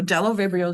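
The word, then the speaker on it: Bdellovibrio: example is Delo vial the B is silent so Delo vial is an interesting microbe it is well let me show you let me go on so Delo vibrio is being shown here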